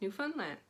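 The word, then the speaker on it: Newfoundland: too many letters so we take found f-o-u-n-d in the middle of the word and turn it into fun fun so it's new fun land and that's how you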